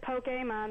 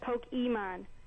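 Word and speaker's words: Pokémon: Here's James Song on my iPod and I noticed that every time they said Pokemon, they said Pokeman and that's the wrong pronunciation.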